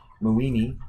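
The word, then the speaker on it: Moieni: I believe that name is pronounced Muini and Eisenberger, 2020.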